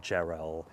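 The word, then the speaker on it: Jarrell: this one is from Randall Geral whose name in fact rhymes with well Randall gerell who writes a poem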